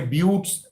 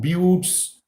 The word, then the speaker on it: buttes: buttes b-u-t-t-e-s what what do you mean by buttes the pronunciation is view buttes buttes remember a butte is an isolated hill